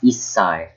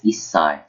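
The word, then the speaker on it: 一歳: So I've said this small su in the first ever lesson. It means you have to wait a little bit before saying the next syllable. So it's Issai. So it'll be two S's.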